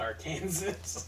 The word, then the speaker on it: Arkansas: I'm pretty sure it's pronounced Arkansas.